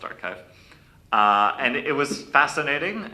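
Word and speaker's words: arXiv: the paper on archive the archive but with an X I think it's pronounced archive.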